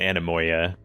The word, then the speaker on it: Anemoia: Okay, they are pronouncing it Anemoia.